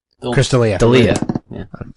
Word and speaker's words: D'Elia: D'Elia? Chris D'Elia. D'Elia. Yeah. I always want to say Delia, and I know that's not right.